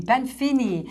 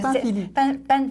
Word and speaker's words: Panfili: Panfini. C'est Panfili. C'est Panfili. Oui, moi, je prononce ça à l'italienne comme ça.